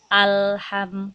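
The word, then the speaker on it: الحمد: terlanjutkan alhamdulillah di sini ada lam sukun langsung pun itu sifatnya ditekan jadi ada tekanan sedikit ketika kita membacanya alham mengajak tapi jangan lama-lama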